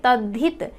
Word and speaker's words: तद्धित: जब इसका उच्चारण करेंगे तद्धित धी, तो ध जो है ये पूरा है, द जो है ये आधा है।